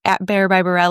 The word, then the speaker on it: Barrile: Um, my last name is B A R R I L E. Not sounds like it's spelled, but bear by is my Instagram.